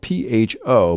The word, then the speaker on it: pho: We discussed the correct pronunciation of the Vietnamese dish spelled P-H-O, but pronounced pho, right?